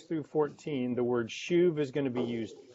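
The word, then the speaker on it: שוב: The little word return is a Jewish word pronounced this way, shuv, S-H-U-V, shuv.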